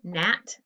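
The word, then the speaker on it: gnat: GN, nat, What's the silent letter? The G.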